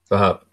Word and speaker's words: Vahap: My name is Wahab. Let me Yeah, see. yeah, you Uh, can say my name. Yeah? yeah, Wahab. Yeah, Vahap.